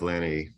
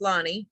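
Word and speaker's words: Lani: uh let's go with Lanny all right so mad here trying to unmute myself and it's Lonnie is how you pronounce it I know it's spelled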